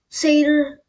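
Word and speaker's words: satyr: It's actually pronounced Seder though. You know, Seder, half goat, half man.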